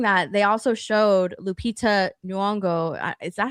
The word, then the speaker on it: Nyong'o: Um but while they were doing that, they also showed Lupita Nyong'o. Is that how you say her name? I can't even Yes. Even Nyong'o. Lupita Nyong'o.